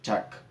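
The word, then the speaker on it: Chaak: El siguiente dios es Cha'ak, o sea, Chak. Lo que pasa es que la pronunciación y la forma de escritura se ven un poco diferentes a cómo es el nombre del dios como tal.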